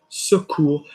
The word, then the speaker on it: ce cours: No, I don't want more R. I just want deeper OU into the chest.